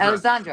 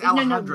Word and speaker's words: Alejandra: How do you say okay, I was getting it wrong said too. It it's so wrong. Alejandra. Alexandra. No, I was doing it too. It's Alejandra.